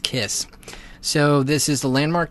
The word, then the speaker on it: Kaees: It is spelled Kaees, but it is actually pronounced Kiss.